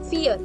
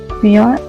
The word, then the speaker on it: Vier: V is pronounced as F. So you will say fear, not fear.